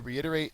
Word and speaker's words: reiterate: To reiterate is a verb. The second syllable is accented.